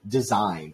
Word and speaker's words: design: uh design we say design and also the word sign so GN always the g is silent that's it oh also